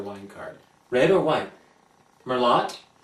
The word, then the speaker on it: Merlot: Merlot? Oh, it's Merlot. I'm so dreadfully embarrassed. How dare I pronounce that T?